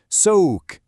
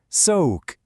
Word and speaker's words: soğuk: And cold is soğuk. You hear that soft gus sound at the end there? Soğuk.